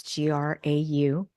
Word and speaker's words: Grau: It's Grau, pronounced like Tim McGraw, but it has a U on the end.